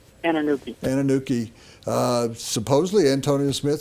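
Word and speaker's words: Anunike: any additional help, that Kenny, how do you pronounce his last name? Anuki.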